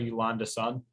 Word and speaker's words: Yolanda Sun: So Yolanda, am I pronouncing that right? Yolanda's son.